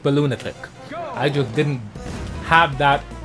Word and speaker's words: Balloonatic: The 1v3 minigames, it is actually pronounced Balloonatic.